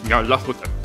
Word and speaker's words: Nyarlathotep: The closest pronunciation I've been able to find is Nyarlathotep.